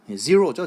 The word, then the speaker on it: zero: 그 우리나라 사람들이 이거 제로가 아니죠. zero죠, zero. 그래서 이거는 확실히 모음이 틀린 거거든요. 제로라고 얘기하면. 근데 저는 뭐 우리말 강의니까 마구 틀리게 할 텐데 여러분들은 제대로 하세요.